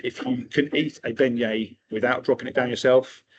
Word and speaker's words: beignet: and I won't test people, but it is pronounced beignet.